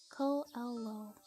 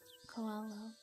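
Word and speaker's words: Koelo: How is my name pronounced? Ko-Elo. Should be in my about section. Yes, like that. Koalo.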